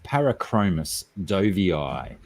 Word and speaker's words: Parachromis dovii: got it d-o-v-i-i and i like to pronounce my double eyes in scientific name now how do you